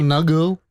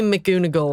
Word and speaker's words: McGonagall: I learned how to say McGonagall correctly. Yeah. Because I How don't did you know. pronounce it? I don't remember, but it was not great. McGonagall. It was probably McGoonagall or something.